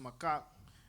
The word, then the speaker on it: macaque: is fierce for access to female Japanese mockers pronounced macaque but it's not for the reason you might